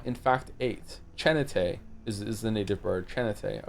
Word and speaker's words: Chin8: It's pronounced Chanate. Chanata, not Chan8.